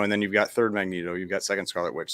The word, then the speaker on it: Magneto: be good or like i had never heard it pronounced this way until i started watching the super world uh he says magneto and i was like i'm like what is that and he's like well it's like magnets and i was like